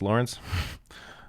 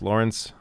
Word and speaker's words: Lorenz: Lawrence says, yeah, it's spelled Lorenz, but it's pronounced Lawrence. I'm named after my great-grandfather who was from Germany.